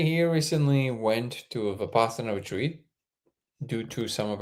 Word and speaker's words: Vipassana: so Terry here recently went to a Vipassana retreat due to some of our conversations on the live.